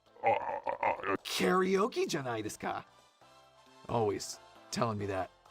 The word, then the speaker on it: karaoke: Usually when I'm speaking English, I say karaoke because that's how we say it in English. I said karaoke is how you say it in Japanese.